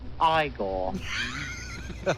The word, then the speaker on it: Igor: let's go talk to him you must be igor no it's pronounced igor but they told me it was eagle well